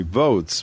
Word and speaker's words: Voatz: the advisory board of something called if i mispronounce it she'll correct me votes v-o-a-t-z it's a for-profit private mobile election voting